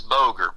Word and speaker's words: Boger: It's like, only it's pronounced, g e r a l d. My last name is Boger, b o g e r.